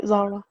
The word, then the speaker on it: Zahra: you say your name you said it right Zara Zara okay fantastic Fanta so